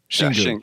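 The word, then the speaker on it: Xingu: So you mentioned, was it Shingu? Was that the pronunciation? Shingu. Shingu. It sounds like it's a dark beer, right?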